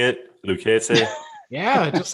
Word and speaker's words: Lucchese: Lucchese?